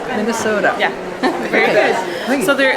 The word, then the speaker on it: Minnesota: Minnesota. Minnesota.